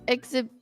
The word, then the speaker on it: exhibition: It's like you with exhibition. Yeah. No, I understand. They It's weird cuz they are spelled very similarly, but the pronunciation is different cuz the emphasis goes in different places.